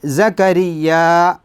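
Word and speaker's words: زَكَرِيَّا: തഫ്ഹീം ആക്കിയിട്ട് ഓതു അതുപോലെതന്നെ സക്കരിയ എന്ന് ആയത്ത് അവസാനിച്ചാൽ നാം ചുണ്ടുകൾ അടക്കരുത് സക്കരിയ എന്ന് ചുണ്ടുകൾ അടച്ചാൽ ഒരു മീമിന്റെ ധ്വനി അവിടെ വരും അത് ശ്രദ്ധിക്കണം സക്കരിയ എന്ന ആ ഭാഗത്ത് മദ്ദഉണ്ട്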